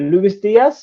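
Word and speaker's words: Luis Díaz: Yeah, so Liverpool signed is it Luis Diaz?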